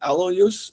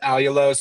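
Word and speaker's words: allulose: And now also, I see that you're using alo use. Did I pronounce that right? Yes. Yeah. One of my sweeteners is alulose as well as monk fruit.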